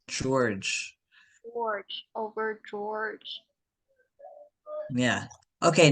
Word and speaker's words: George: Because it sounds like a J, but it's spelled George. George.